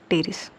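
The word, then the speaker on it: Pteris: Example होगा ड्रायोप्टेरिस टेरिडियम, ड्रायोप्टेरिस और टेरिडियम, P silent है, टेरिडियम और टेरिस, अगेन P साइलेंट है, टेरिस।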